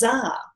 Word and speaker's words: Dzar: And they said, our name is Dzar.